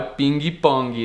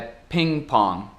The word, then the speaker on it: ping pong: Então, aqui não é ping pong, né? É ping pong.